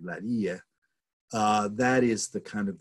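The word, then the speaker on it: اللاذقية: and you locate the town of Lattakia, which is pronounced in Arabic, Ladhiqiyya, that is the kind of the largest city in the what's called the Alawi heartland.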